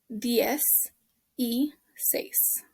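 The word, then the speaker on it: dieciséis: you say ds e this letter i here just says an e sound and then says number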